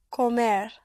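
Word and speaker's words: comer: To uh to eat is spelled c o m e r pronounced comair. Com.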